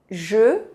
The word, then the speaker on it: je: O som E é um pouco parecido com o som U em francês.